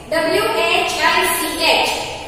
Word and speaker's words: which: Next, W-H-I-C-H. Okay, so how will you speak? Which. Which. Okay, so here this H will be remain silent.